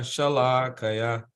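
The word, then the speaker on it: śalākayā: So you notice the S, the S, there's an accent above the S. So in this case, we pronounce that S as sh. So Shalakaya. Shalakaya. Shalakaya. Not Sha, but Sha. So because that's a short A, right?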